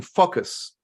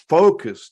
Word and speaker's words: focus: And I was mispronouncing it by not emphasizing the OU sound in it. And I was saying focus.